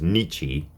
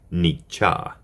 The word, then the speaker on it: Nietzsche: in the pronunciation of his name I was pronouncing it incorrectly as nii and it is Nia thank you all right now for part four